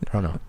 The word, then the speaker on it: Toronto: that the whole world knows now, but Canadians don't pronounce the second T in Toronto. Yeah. Yeah. I do. Toronto. You do actually. The only thing You that do. I You don't. live there. You Toronto.